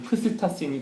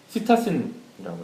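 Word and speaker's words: psittacin: 이제 발음하기는 따라 다른데 그 이제 라틴어 계열로 발음하면 프시타신이 되고 영어로 발음하면 시타신이 되는데 앞에 P가 묵음이 돼서 시타신이라고 해서 앵무색소라고 부르기도 하고 황색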